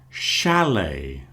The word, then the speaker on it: chalet: Chalet. That also has a sh at the beginning because it's French.